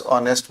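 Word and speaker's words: honest: जिस शब्द का उच्चारण हिंदी में जिसको बोलते हैं ना जैसे ए इ आई ओ यू के साथ है रे बाबू पहले एन लगता है समझा लेकिन जिसका उच्चारण अ से हिंदी में औ तक होता है अ से औ तक उसके पहले भी एन लगता है जैसे ऑनेस्ट है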